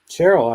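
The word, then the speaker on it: Sherrill: And in New Jersey, another moderate, uh, Representative Mikey Sherel, is that how you pronounce it? Charel. Cheryl, I thought Cheryl. Okay.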